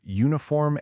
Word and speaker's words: uniform: But just listen to how you say them. Uniform, European. Hear that? That y sound at the beginning is a consonant sound.